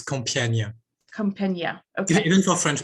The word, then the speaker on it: Compiègne: Too hard for English-speaking people, but it's Compiègne.